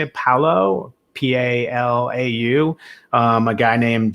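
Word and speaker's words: Palau: u.s ambassador to how do you say it paulo p-a-l-a-u um a guy named john hennessy niland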